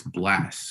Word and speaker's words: Blxst: like way back in 20189 um but it's blast so his name is spelled blxst um okay I might actually have